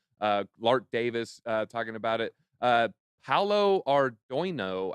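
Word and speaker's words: Paolo Ardoino: Paulo Ardoino, I think is how you say it.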